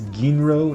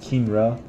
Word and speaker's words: Ginro: It's Ginro, not Kinra.